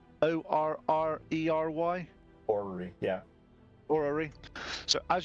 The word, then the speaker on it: orrery: that this center piece is, and I can't pronounce this, so let me see if it's a orrery, O-R-R-E-R-Y.